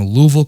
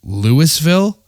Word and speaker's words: Louisville: And he laughed at me and he was like, "L ui S V I L L E. Louisville." And I'm like, "Lewisville?" No. My brother, he he didn't know anything how to pronounce Louisville.